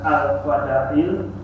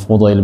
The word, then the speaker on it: Fudail: Juga pada Al-Fadail bin Al-Fudail. Fudail itu bacanya. Bin Iyadi. Ya. Sufyan bin Uyainah dan ulama-ulama lainnya. Ya. Jadi Fudail bin Iyad ini seorang ulama ahli sufi ya.